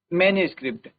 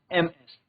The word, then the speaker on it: MS: द एब्रविएट form is usually pronounce. मैनुस्क्रिप्ट नॉट एमएस।